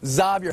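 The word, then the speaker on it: Xavier: stick around three of the top six recruits zavier Henry is how he pronounces his name marotti and yeah a team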